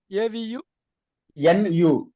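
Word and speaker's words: అవును: AVU. NU. How Avunu. do you how do you how do you pronounce?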